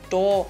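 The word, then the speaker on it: då: Denn in Österreich würden wir zu da immer do sagen. Das A klingt also wie ein O.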